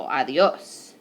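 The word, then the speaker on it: adiós: it's very helpful so it just puts emphasis on the syllable that you would emphasize so it's not adios it's not ideal so it's adios I have the emphasis right there on that last syllable adios all right another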